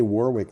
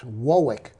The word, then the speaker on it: Warwick: and if you say warwick they laugh at you well it's not quite warwick it's wowick wallace's well i'm thinking